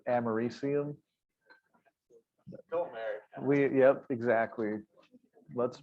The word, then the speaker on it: americium: everybody would know what you're talking about if you call them all over The one that's AC, everyone calls it like Americanium, but it's Americium.